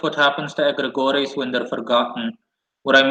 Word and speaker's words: egregores: You s Oh, you pronounce egores. You mean egregores. That's how it's pronounced.